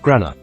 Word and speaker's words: grana: Each thylakoid stack is a granum, plural pronunciation, grana.